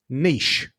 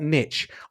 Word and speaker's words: niche: but the word is spelled Niche. It's a French word, but despite that, it's a good word. Niche, not niche.